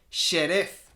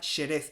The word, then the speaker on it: Xerez: ¿Cómo se escribe Jerez? ¿Cuál es la otra forma de escribir Jerez? Xerez, con una X, porque Xerez, o sea, nuestra